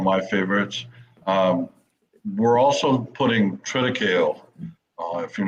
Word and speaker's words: triticale: We're also putting triticale. If you're not familiar, What is that? You mentioned that before. I don't know what that is. Triticale is, or triticale, is some of them are pronounced.